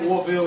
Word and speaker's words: Orville: Yes, Orville is my real name and my stage name. And it's spelled just like Orville Redenbacher. V-I-L-L-E. So I know it's doing Orville. Orville Redenbacher? Yeah, just like that.